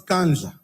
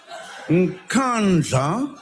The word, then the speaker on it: Nkandla: Unless if like you're not knowing Zulu. Unless it's like that. But man, else you can pronounce Nkandla. Unless you're from Botswana or you're from Lesotho. It depends about the accent again. Accent play a big role.